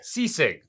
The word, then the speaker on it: Sisig: It was literally one of the best Sisig I've ever had. Am I pronouncing that right? I'm sorry. Sisig. Sisig.